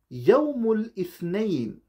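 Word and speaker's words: يوم الاثنين: Monday is called Yawmul Ithnain.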